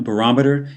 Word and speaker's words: barometer: determined by temperature a barometer is a weather instrument used to measure air pressure again as pronounced barometer not barometer but barometer moving on even more